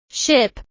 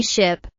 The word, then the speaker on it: ship: The vowel sound in ship is a short sound, while the vowel in sheep is a long I sound. Let us practice these sounds again. Ship, sheep.